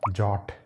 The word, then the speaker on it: JWT: इसका सही प्रोनाउंसिएशन होता है जॉट। ये एक जॉट टोकन है।